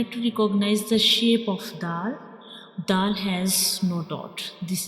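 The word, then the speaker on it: دال: So in this letter dal has same pronunciation like ta.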